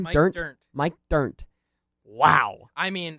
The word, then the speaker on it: Dirnt: Is it Mike Dernst or how do you say his last name? Mike Dirnt.